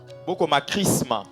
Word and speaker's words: chrisma: Chrisma. Chrisma, ça s'écrit H R I S M A.